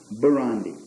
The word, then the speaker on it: Burundi: Burundi, I pronounced it right.